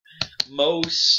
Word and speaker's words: mos: Mos, a long O, mos.